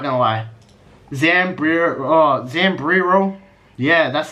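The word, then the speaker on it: Zambrero: gonna be good I'm not gonna lie Samri Samri row yeah that's how you say it Sam B's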